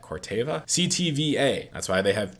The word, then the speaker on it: Corteva: that we're looking at as cortez i don't know why i said it like that corteva ctva that's why they